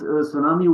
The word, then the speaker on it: tsunami: This tsunami word is basically Japanese, so you can actually pronounce it as tsunami.